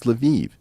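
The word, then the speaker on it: Lviv: way if I say Luv everyone's going to correct me and say no no Eric it's leviv it's like no these spit these cities all have multiple pronunciations I I always thought of levov was a Polish City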